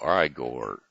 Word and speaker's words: Igor: and how about Igor well I Gor either way it's pronounced I Gor he'll ask you but